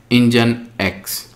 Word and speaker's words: Nginx: So, basically, they will say that the pronunciation of this Nginx is Nginx.